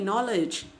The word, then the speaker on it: knowledge: Similarly, knowledge, knowledge, we never pronounce like that. So K is silent there in these words like knee, knowledge, no, night, knife, not, etc.